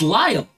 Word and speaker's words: Lyle: Yeah, it's Lyle. It's like Kyle, but with an L?